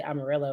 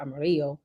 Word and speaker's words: Amarillo: in general and they have to say Amarillo instead of Amarillo which is the correct pronunciation so um so that